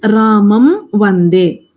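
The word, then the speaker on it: रामं वन्दे: So makara is facing a vyanjana. So makara gets converted to anuswara. So it becomes Ramam vande.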